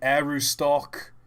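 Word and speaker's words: Aroostook: Bangor and Arustuk. Is that how you pronounce it? Arustuk? Whatever. Bangor and Arustuk ships entire season's harvest of potatoes through Penn Central. And it's gone. Arustuk. Okay. Someone's saying Arustock.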